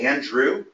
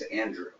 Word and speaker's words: Andre: and did you say Andrew yeah okay that's this is the second time in three years that I've heard someone say my name's Andrew instead of Andre or some and the first time